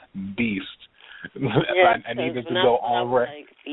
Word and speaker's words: b.east: up for this podcast it's pronounced Beast not be East not be Dottie's Beast